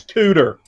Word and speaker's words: Cooter: common one yeah yeah now it's spelled with t's but you have to pronounce it with d's it's tudor yeah everybody has a